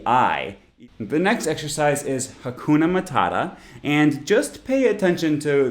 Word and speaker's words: hakuna matata: hakuna matata obviously obviously the middle syllable in each word is the stressed part hakuna matata and all of the vowels in unstressed syllables are actually schwas like i said this